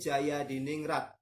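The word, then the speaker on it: Djajadiningrat: Nah, ngomongnya harus gitu. Husein Dejaja Diningrat. Ejaannya gitu. Kalau dibaca Husin Jaya Diningrat.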